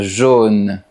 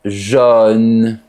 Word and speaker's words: jaune: À Paris, on dit une voiture jaune, mais à Toulouse, on dit une voiture jaune.